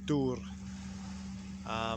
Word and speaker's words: dŵr: So Welsh word of the day is dŵr, which is kind of how I can put this on the screen because you kind of say it how it's spelled, DWR, dŵr, which is the Welsh word for water.